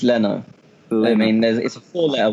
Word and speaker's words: Leno: was signing Leno but I've heard five different pronunciations this week I've heard Alou no lino Leano la know so I think what it is and this is all coming from top sport Tony so it's in your country it's learner I mean that's all